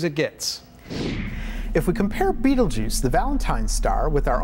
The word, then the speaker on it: Betelgeuse: Its name is Betelgeuse, which most people pronounce Betelgeuse.